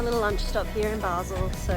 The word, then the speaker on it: Basel: We are now at Basel, not Basel.